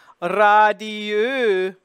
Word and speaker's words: radieux: Then we have this E-U spelling. Okay. And then in the next syllable, there's nothing after it in this case. It's all by itself in the one syllable. So it's going to be the closed U. Radieux. And then that S there becomes a Z sound. It's a voiced sound.